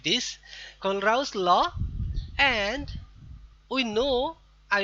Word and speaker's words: Kohlrausch: I have tried several times to find out the exact pronunciation. Kohlrausch, like this. Kohlrausch law, and we know I will show you